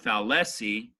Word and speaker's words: fallacy: So the first syllable is foul. That means that gives the heaviest spoken part on it. Fallacy. Fallacy. It's not fallacy or fallacy. It's fallacy.